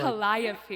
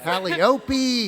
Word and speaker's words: Calliope: And after reading, I had trouble pronouncing that name in the beginning. Really. Calliope. Yeah, Calliope.